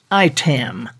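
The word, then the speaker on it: IAITAM: are the technological lifesavers is pronounced I ten dot org this I a I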